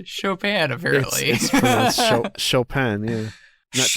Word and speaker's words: Chopin: hear from you thanks for listening it is pronounced chopin apparently chopin yeah he's not chopping oh it's because he's because he's french so